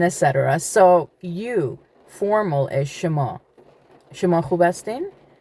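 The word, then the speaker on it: شما: Shema.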